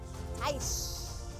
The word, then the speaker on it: Taish: Or Taik. First or second? What is the proper pronunciation, sir? Taish or Taik? Taish.